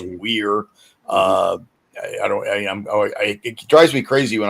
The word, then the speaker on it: Weir: Some people accidentally mispronounce his name as Ted Wire. It's not. It's Weir.